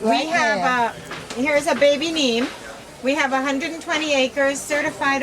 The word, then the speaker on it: neem: I see the Abaco Nam, which is a health product. Can you tell us a bit about your health product? I've heard about the Nam tree. Neem. The neem.